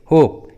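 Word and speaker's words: hope: जैसे होप, give, love, gave, देखिए सभी इंग्लिश वर्ड्स में ई एकदम लास्ट में है, इसलिए ई साइलेंट है, ई का उच्चारण नहीं किया गया है।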